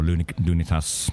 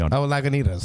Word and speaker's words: Lagunitas: Every time I go to the US, it's normally Sereno, Nevada, or Lunitas, if I said that correctly. Lagunitas. Yes. I said it wrong.